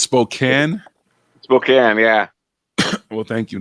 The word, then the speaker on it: Spokane: spoke cancer when they get through people say spokane it's across the states not even like it's eastern washington might as well be a different state people go spokane or you're from north carolina yeah it's spokane spokane yeah well thank you now i know